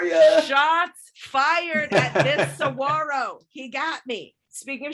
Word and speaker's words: saguaro: a 27 foot tall saguaro or saguaro i think is how you say it and didn't even finish